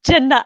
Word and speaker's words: Jenna: It's actually pronounced Jenna.